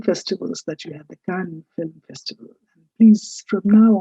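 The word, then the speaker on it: Cannes: Of course, I just mentioned the famed film festivals that you have, the Khan film festival. Please from now on at least never pronounce it as Gans.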